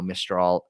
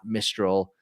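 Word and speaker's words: Mistral: pronounce that correctly now mistol it's not mistol it's French French company French pronunciation uh Arthur mench they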